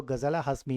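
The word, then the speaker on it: Ghazala Hashmi: तो यह बनी है गजाला हाशमी। इसको आप गजल हाशमी भी बोल सकते हो और कुछ जगह पर इसका प्रोनाउंसिएशन गजाला हाशमी के रूप में भी होता है।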